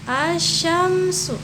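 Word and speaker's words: الشمس: Terus dibacanya tidak jelas, lamnya tidak jelas ya, tidak jelas. Contohnya langsung ke contoh ya, misalkan asyamsu.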